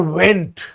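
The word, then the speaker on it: Wendt: this social constructivism it was given by Alexander went Alexander when v n d t is silent okay now in this social constructivism they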